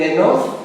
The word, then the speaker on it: enough: Normally we pronounce GHF, we say enough, okay?